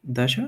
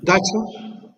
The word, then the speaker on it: dacha: Dacia? Dacha Dacia.